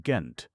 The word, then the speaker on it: Gent: deal like Gong, while the Flemings, who talk Dutch, say it with a hard G, and as if Gent.